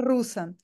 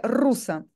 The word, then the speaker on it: rusa: decir como debería pero yo lo digo debería a la manera rusa rusa el español diría rusa sabe que eler muy muy pronunciado pues esto es más